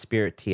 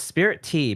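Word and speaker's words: Spiritea: called spirit t it's it's like spirit and tea but it's like meshed into the same word but it's definitely pronounced spirit tea i had to look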